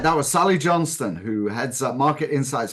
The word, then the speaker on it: Johnstone: can use it so Sally Johnston am I pronouncing your last name correctly yes Sally Johnston you are senior manager and lead of Market